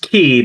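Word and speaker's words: Quay: you may want to know that uh it's pronounced key but spelled QA quu a y um is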